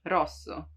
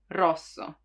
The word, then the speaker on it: rosso: cuadro like a painting the one that everyone has problems with it's rolled right you have to make it vibrate you don't have to prolong it too much rosso but it still has to roll rosso practice this rosso